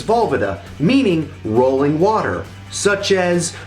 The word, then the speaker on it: Valvoda: As I mentioned at the beginning of this video, my last name is Valvoda, which comes from Czech ancestry and, as I understand it, would be more correctly pronounced as Valvoda, meaning rolling water, such as like on a river or a stream.